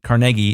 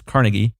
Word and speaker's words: Carnegie: And the thing that's important to underscore there, Andrew Carnegie, that's right, Carnegie, it's not pronounced Carnegie, it's Carnegie.